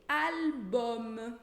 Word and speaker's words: album: Outro exemplo, album, que é álbum. Inclusive, se você tiver alguma dúvida na pronúncia do L, já tem vídeo sobre isso.